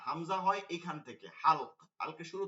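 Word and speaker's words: همزة: হয় ঠিক আমরা যখন হামজা বলতেছি তখন হামজা হা মিম জা শেষে আবার গোল তা গোল হা হবে হাম জাহ এখানে প্রথমে হা লাগতেছে মিম লাগতেছে যা লাগতেছে আবার হা লাগতেছে হাম জাহ এইটা নামের ক্ষেত্রে ওই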